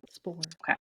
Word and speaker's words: Spohr: It's Spohr. I'm assuming the P is silent, but Spore.